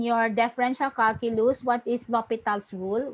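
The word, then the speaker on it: L'Hôpital: differential calculus what is lopital's rule we pronounce this as lopita's rule hello are you all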